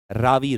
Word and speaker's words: Ravi: Next, the next thing that comes is an important river which is known as Ravi. People call it Ravi. Sometimes it is the correct pronunciation is Ravi River.